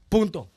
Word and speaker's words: punto: Punto. That sounds like No, Punto. The N is silent a little bit.